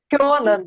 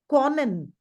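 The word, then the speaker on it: können: It is not Conan. Here we are having O umlaut. Whenever O umlaut comes, we have to give the sound of yo.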